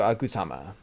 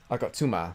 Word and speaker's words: Agatsuma: know well nonetheless here he is it's anitu akuzama akatsuma actually is how you pronounce i think but this is really cool